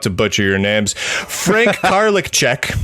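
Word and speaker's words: Karlitschek: like you both very much but I can't pronounce things so I'm about to butcher your name's Frank garlic check Carla check Frank Carla check did I get that right Frank yeah that's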